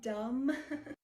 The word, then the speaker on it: dumb: no come on now I feel so dumb I'm done it's actually dumb hi teacher all right